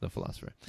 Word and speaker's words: The Pholosopher: on Facebook a little the philosopher that's pH o el oso fph ER the philosopher but of course pronounced the philosopher so so if you